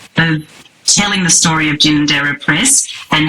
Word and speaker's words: Ginninderra: She is the CEO and publisher of Ginander Press and please correct me Deb if that is not the correct pronunciation but we'll get to that.